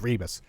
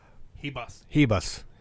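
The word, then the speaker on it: Ribas: It's Rebus. Hebus. Apparently, screw R's and letters. So the Amanda fight, the Amanda R fight, even though R is silent, non-existent.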